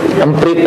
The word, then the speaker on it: Emprit: Bacanya emprit aja. Iya, berumprit. Emprit ya, bahasa Sunda. Jawa ya. Oh, bahasa Jawa, bahasa Jawa. Ya, drone emprit. Saya malah bacanya saya kira bahasa Prancis, drone emprit. Ternyata dibacanya emprit.